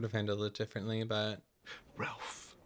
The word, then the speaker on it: Ralph: I would have handled it differently, but Ralph Bleeker. It's pronounced Rafe and it's General Bleeker to you, sir.